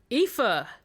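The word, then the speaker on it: Aoife: to be incredibly outlandish her name will be EPA oh that's okay that's just a yeah a nice Irish name standard Irish name which is spelled a o i f e yeah well I mean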